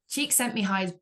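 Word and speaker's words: Csikszentmihalyi: prepared I was like I need to know how to say this so cheek sent me High's best known for his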